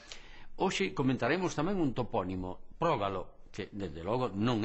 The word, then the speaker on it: Prógalo: E así sempre pronunciaremos correctamente Prógalo, como debe ser, e non o incorrecto Progalo.